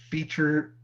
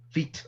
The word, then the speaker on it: feat: is gonna be uh the feature f-e-a-t of clay part one I saying it wrong feet okay another word for